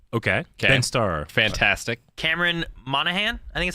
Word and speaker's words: Monaghan: Cameron Monaghan, I think is how you say it. Yep. There's G in there. I don't think you So pronounce it. he's Monahan.